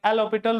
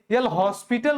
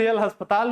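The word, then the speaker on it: L'Hôpital: एल हॉस्पिटल rule नहीं बुलाया जाता है, एल हॉस्पिटल रूल बुलाया जाता है, एल हॉस्पिटल rule. एल हॉस्पिटल कहेंगे तो एल अस्पताल रूल हो जाएगा, जो कि काफी गलत प्रोनाउंसिएशन होता है।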